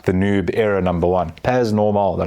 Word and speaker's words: Pas Normal: Pas normal, they're like, the S is silent, it's French.